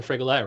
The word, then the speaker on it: Frigolette: Dan Frigolette, how the hell are you? Hey man, thanks for having me. Am I slaughtering the name? I know it rhymes with Gillette, but it's a hard G.